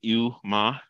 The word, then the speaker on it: EWMA: And so I like to pronounce things, and I always pronounce it EWMA, like you're getting bad medicine, but this is good for you, like bad medicine.